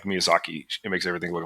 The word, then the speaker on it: Miyazaki: Mia Miyazaki was right. I'm sorry if I mispronounced your name, sir. It's Miyazaki. It's Someone get Miyazaki a Gundam stat.